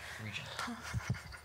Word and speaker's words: Regent: Regent okay reg okay Regent soft G not like GI any any theories or